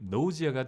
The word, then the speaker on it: nausea: 자, 다음에 있는 자, 이 단어 발음이 nausea가 되고요.